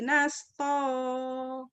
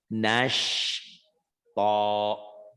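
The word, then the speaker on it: نشطا: Coba Bu, sinnya Bu latih. Wan nasyitoti nasto. Iya, masih kurang ya shinnya ya. Nanti Ibu latih gini. Pelan-pelan bacanya. Wana syilpoti nashto. Latih. Sambil bercermin, samakan mulutnya dengan saya. Samakan gitu. Nashto. Ibu masih nasto.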